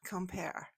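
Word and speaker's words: Quimper: to some place uh in the vicinity of Kemper, which if you're taking notes is spelled Q U I M P E R.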